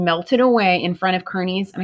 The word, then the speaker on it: Kearney: away in front of kearney's and i think they may even pronounce his last name carney but i think it's like i think it is but it looks like kearney with kearney's army and